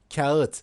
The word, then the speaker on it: kağıt: Bir parça kağıt, soft G.